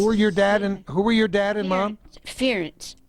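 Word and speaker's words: Pherence: Ference. P-H-E-R-E-N-C-E. The P-H is silent. Ference Silver, and my mother was X-E-N-I-A.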